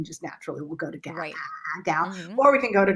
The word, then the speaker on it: Gal: And, and the proper pronunciation is Gal, then like we have to think, we have